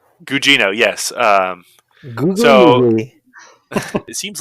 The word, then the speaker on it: Gugino: carla gugino so you figured out how to pronounce her name gugino yes um so it seems like everything i